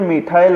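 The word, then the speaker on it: methyl: अब दोस्तों, इसको इंग्लिश में मिथाइल बोलते हैं। केवल और केवल प्रोनाउंसिएशन का डिफरेंट है और कुछ नहीं है, बाकी सब कुछ सेम है। हिंदी में मैथिल बोलते हैं, प्रोनाउंसिएशन करते हैं।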